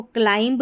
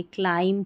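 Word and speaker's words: climb: तो देखिए, इसको क्लाइंब नहीं पढ़ेंगे, क्लाइम पढ़ेंगे। क्या पढ़ेंगे? क्लाइम।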